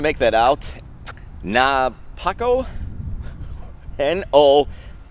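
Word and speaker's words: Nopuko: that out nah Paco n-o-p-u-k-o is how it's spelled I see a little sign over here on it we are going to call it no puko that's what we are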